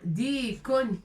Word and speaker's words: ديك: Dikon avec tanwin. D'accord? De ma pour dire on. Dikon. Et ça, c'est raqba. Dikon. Avec deux points liés.